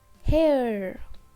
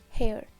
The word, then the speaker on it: hair: Now next word is hair. Hair. Hair. We can also pronounce without R.